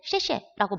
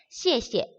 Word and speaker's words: 谢谢: 자, 우리가 그때는 쉐쉐라고 말을 했어요. 근데 쉐쉐는요, 잘못된 발음이겠죠. 우리 이제 한어 병음을 배웠기 때문에 얘는 시에 사성, 시에 원래는 사성인데 똑같은 단어가 두 개 나왔기 때문에 두 번째에는 발음이 경성으로 바뀝니다.